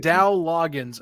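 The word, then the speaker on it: Dowell Loggains: That's how could I forget Dow Loggins? Good God. Go. That's how you pronounce it.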